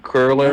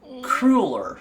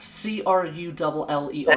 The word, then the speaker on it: cruller: What is a honey curler? No. No, I'm sorry. Dang it. Oh well. Cruller. C-R-U-L-L-E-R. Cruller.